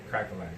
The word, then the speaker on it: Cracka Lack: like, and I say my name, they're like, Crack-a-lack.